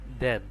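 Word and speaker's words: then: আবার টিএইচই এন দেন। এখানেও টিএইচ এর উচ্চারণ দয়ের মতো হয়েছে।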